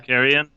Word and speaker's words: Carrion: Carrion.